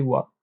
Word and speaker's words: は: chi l'ha ghana a mais elle va se prononcer voix si vous voulez savoir pourquoi c'est dû au